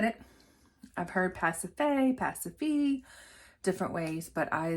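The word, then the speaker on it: Pasiphae: Elizabeth's best friend pacify if you were wondering how to say it it is pacify where did I get the name pacify of course it's Greek where did I get the pronunciation from the BBC show Atlantis I was watching Atlantis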